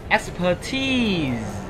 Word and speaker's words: expertise: Expertise có đuôi, có trọng âm này nên chúng ta đọc cao hơn bình thường nha các bạn nhé.